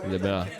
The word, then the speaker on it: LeBlanc: LeBlanc.